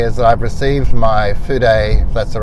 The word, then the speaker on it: fude: talk about today is that I've received my food a that's the right pronunciation Japanese pen which is today is brush